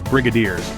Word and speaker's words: brigadiers: d i e RS notice the G has a j sound like in giraffe now we come to